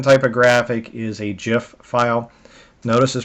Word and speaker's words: GIF: PNG and the other common type of graphic is a gif file notice is pronounced GIF GIF like the peanut butter um it actually is pronounced that way so anyhow what I